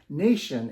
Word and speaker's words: Nayshn: uh first of all the brand we're using is Nation it's phonetically spelled so n y s